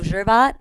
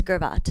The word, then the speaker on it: Gervat: Some people always do the soft G. They go Gervat, but it's Gervat.